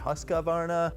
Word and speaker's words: Husqvarna: model name I mean some folks are saying like Husqvarna husqvarna husk who's qivana I mean I'm not gonna say it like that there's not enough syllables I'm saying Husqvarna whether you guys like it or not and then the model